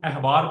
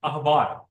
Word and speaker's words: احبار: اسے بہت سے لوگ احبار پڑھتے ہیں، حالانکہ صحیح تلفظ الف کے اوپر زبر کے ساتھ ہے، اخبار یہ صحیح تلفظ ہے.